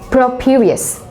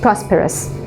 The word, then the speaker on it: prosperous: For example, properious, okay, and you meant prosperous, okay, and then there were words like leg, and you went for leg this thing, leg that thing.